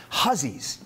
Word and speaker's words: Hussey: In Windsor, Maine, where Harlan Hussey, looks like Hussey, he was a German immigrant, pronounced it Hussey, just like Dan & Witt, he also did very well.